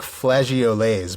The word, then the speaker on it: flageolets: The word looks like flageolets, but it's actually pronounced flageolets, according to...